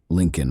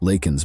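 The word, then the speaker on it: Laken: To the thunderous cheers of his supporters, Biden mispronounced the victim's name during the speech, saying instead, "Lak Lincoln Riley."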